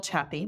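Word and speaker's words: Chiapp: my name is happppy my last name spelled kind of funny it's c h i a p p but rhymes with happy so that's a lucky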